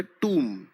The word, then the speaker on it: tomb: इस शब्द की प्रोनाउंसिएशन का ध्यान रखें, TOMB की प्रोनाउंसिएशन होती है टूम।